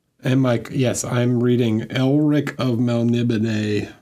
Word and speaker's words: Elric: more because it's like there's no character named Eric in the book, and then occasionally they'll just say my name. The narrator will just say my name, and I'm like, that's weird. Like, dude, it's Elric.